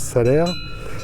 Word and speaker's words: Salers: Vous savez, ici c'est le pays de Salers, ça s'écrit avec un S à la fin, mais ça se prononce Salers.